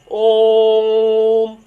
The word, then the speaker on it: ओम: इसका उच्चारण जब आप करेंगे तो कैसे बोलेंगे? ओम। जब ओ के बाद थोड़ा सा दूरी बढ़ रही है, थोड़ा सा ओ की मात्रा में दूरी बढ़ रही है, ठीक है?